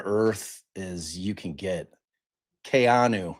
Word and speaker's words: Keanu: Kayanu is how you pronounce it. My my nephew is Kayanu. It's not Keanu. That's incorrect. That's incorrectly pronounced.